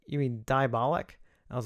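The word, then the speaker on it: Diabolik: one that chastised me for mispronouncing Diabolic DVD. Because I was pronouncing it Diabolique, like the movie, and that's a bad habit I have.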